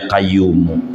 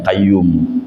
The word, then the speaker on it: Qayyum: Allah balik sama Allah orang Jawa aja yang bacanya Salah bisa sampai ke Mekah bacanya Salah ya qayyuku ya Qayyum ya qayyubiyah qoyyummu ya Hayu ya qayyu ya Qayyum ya Hayu ya Qayyum ya kayu ya kayum Nyampe Mekkah yakin